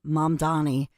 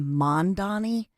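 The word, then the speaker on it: Mamdani: Well, I think first and foremost, if you look at Zoran, mom Donnie, and by the way, Cuomo kept saying Mandonni like M O N.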